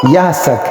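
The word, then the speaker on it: יצחק: والا اور خبردار ہے۔ اسحاق اصل تلفظ کے اعتبار سے یحسک ہے۔ یہ عبرانی لفظ ہے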